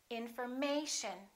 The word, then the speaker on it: information: This is the most stressed syllable right here, the A. Information. So we don't say infor, and we don't say mation. We don't say information. We say information. Once again, information.